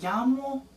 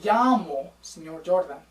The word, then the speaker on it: llamo: Also make sure, double L's. Ooh, in Spanish we say them ya. We do not say la or l. Okay, it's not even a longer L. It's kind of like a Y.